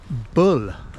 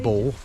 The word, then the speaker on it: Bull Point: that's how it's pronounced and bull not ball bull point and bull point lighthouse i thought it was ball b a double l but i've been corrected by um who's yours